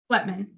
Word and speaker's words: Sweatman: Is it Sweetman or Sweatman? Sweatman.